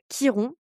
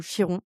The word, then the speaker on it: Chiron: Le premier que nous faisons aujourd'hui, il est sur Chiron ou Chiron, il y a deux écoles. Choisissez la manière dont vous voulez le prononcer. En anglais, c'est Chiron, et donc du coup bref, moi je dis Chiron.